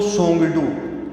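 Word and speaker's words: Tshogdu: तो सोंगडू, टी इसमें साइलेंट रहेगा तो इसका हम बोलेंगे सोंगडू।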